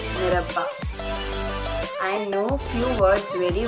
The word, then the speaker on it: merhaba: For example, in Turkish, hello is pronounced as merhaba.